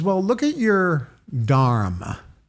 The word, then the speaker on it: dharma: And he says, "Well, look at your dharma." Mhm. And we pronounce it dharma, but it's actually pronounced dharm even though the A is silent at the end.